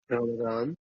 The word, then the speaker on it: Ramadan: Ramadan. Okay, just in case my pronunciation Yeah.